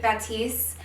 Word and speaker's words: Batiste: I had been using Batiste, yeah, that's how you say it, before that